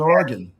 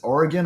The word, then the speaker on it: Oregon: Portland, Oregon. Yeah, that's a how do you pronounce it? Oregon or Oregon?